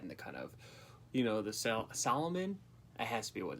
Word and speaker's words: Salomon: that I had and the kind of, the Salomon, it has to be what it's pronounced, Salomon vest.